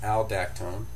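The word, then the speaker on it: Aldactone: This is spironolactone, and the brand name is alactone.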